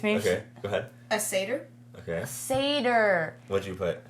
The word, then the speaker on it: satyr: Well, I just didn't know it was pronounced satyr.